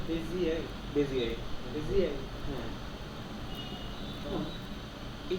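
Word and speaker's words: Bézier: বেজিয়ার Bezier. মানে German তো, এই জন্য লাস্টের আর উচ্চারণ করে না, আচ্ছা তাহলে এটা উচ্চারণ হবে Bezier.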